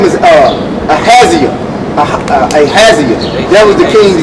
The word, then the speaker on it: Ahaziah: Yeah, because that's how you say his name, Ahaziah.